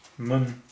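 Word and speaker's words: 们: So our next character is mun. Mun. Mun doesn't have any tone at all.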